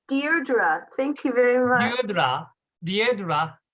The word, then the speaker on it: Deirdre: It's pronounced Deirdre.